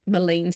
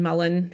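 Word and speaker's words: mullein: of here those um Malin another one Mullen you might just pronounce it either way Bracken um anything prickly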